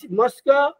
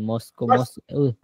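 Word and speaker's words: mosque: আবার বলেন ইজ মসকো বিসাইডাই road আবার আবার বলেন মস্কো মস্কো মস্কো কই পেলেন মস্কো শব্দের উচ্চারণ হবে মস্ক মস্কো বিসাইড রোড বিসাইড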